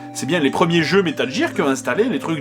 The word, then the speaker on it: Metal Gear: d'ailleurs vous l'aurez remarqué je prononce sa métal gier et non pas metal gear et ya deux raisons à cela la première c'est que j'ai été induit en erreur quand j'étais jeune par les pubs pour la gaine girpi